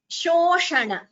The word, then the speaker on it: शोषण: Like I explained in the first class, there is a difference in the pronunciation. Shoshana. So this is sha, this would be sho. Shoshana. So that slight difference, that subtle difference has to be made out.